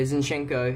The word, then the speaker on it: Zinchenko: Yeah, Zinchenko.